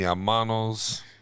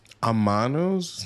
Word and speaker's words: hermanos: Amanos? Amanos. That's not how you say it? Amanos? It's like drawn out with a little bit of S at the end of it? Amanos? It's H-E-R. Hermanos.